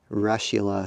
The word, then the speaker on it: russula: Daniel Winkler and others we'll get that russula so it almost sounds like there referring to a Russian mushroom but I know that that's one of the preferred pronunciations I just have always felt funny saying it that way but a lot of